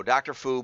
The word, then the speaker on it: Fou: by you and uh so dr fu but wrote me f-o-o it's pronounced that way so anyway how does